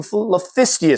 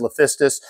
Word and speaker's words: Liphistius: Eresus species and some Liphistius species. And I apologize in advance as I was making this video. I was really, really tired, and I think I kept mispronouncing Liphistius as Lisphistius.